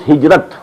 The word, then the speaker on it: Hijra: I'll explain the word Hijra also Hijra which we in order to pronounce hijrat this is the negative